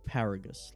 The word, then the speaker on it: Paragus: pronounce this guy's name I want to say paragus paragus surely because of the whole vegetable thing it's paragus like asparagus um terrible Dad I'm glad